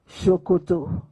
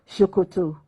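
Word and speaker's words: ṣòkòtò: Shokoto. Written the same way, but pronounced S-O-K-O-T-O, Shokoto, means trouser in Yoruba language.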